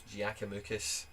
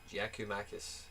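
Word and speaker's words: Giakoumakis: Giacomakis, that's how you say it. Giacomakis.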